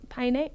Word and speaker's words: Paine: Hikes in Patagonia and the O in Torres del Paine. Piney. Piney? Mm-hmm. What? I mean, if I didn't know that, I would definitely pronounce it wrong, but... Piney. Like Heine, but with a P?